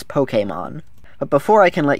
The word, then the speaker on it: Pokémon: the world of Pokemon Pokemon that's actually how you're supposed to pronounce it this is supposed to be an e like in resume I'll still say Pokemon because that's what I